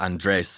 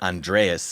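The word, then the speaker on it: Andrés: And if you're from Mexico, then or Latin America, Andres is the name, and it's a very strong, manly name. Yes. But Andreas is the way that us gringos pronounce it.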